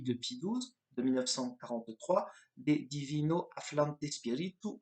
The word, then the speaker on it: De Divino Afflante Spiritu: Par exemple, la lettre encyclique de Pie XII de 1943, De Divino Afflante Spiritu, je prononce à l'italienne, c'est pas académique, mais c'est pas grave.